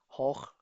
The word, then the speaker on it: hoch: Hoch haben wir hoch gesehen.